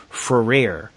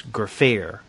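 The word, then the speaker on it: Gfrörer: graer and Andy Wolverton and I mispronounced her name now her name is spelled GFR o uml r e r and for some reason Andy and I thought maybe the G was silent but that it rhymed with despair so we were calling her fer but apparently it's graer so thank you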